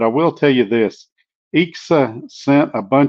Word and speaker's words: EXA: And when I did the unboxing video, I mispronounced it. I called it KSA. It is EXA.